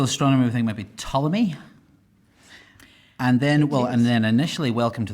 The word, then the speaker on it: Ptolemy: The classical astronomer, I think, might be Ptolemy.